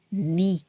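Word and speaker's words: knee: பாருங்க இதுல கேலங்குது ஆனா கேக்கு வந்து உச்சரிப்பு கிடையாது கினின்னு சொல்லக்கூடாது நீ லைக் நீ என் இ மாதிரிதான் ஆனா எழுதும்போது கே வோட எழுதணும் நீ ஓகே நீனா வந்து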